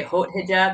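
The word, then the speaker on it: Haute Hijab: did i pronounce properly i tried the french french pronunciation and the british and the american i couldn't figure out which is right people say it many different ways i think hot hijab okay you say hot hijab you could say hijab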